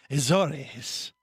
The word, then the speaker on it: Azores: And she's in the Azores.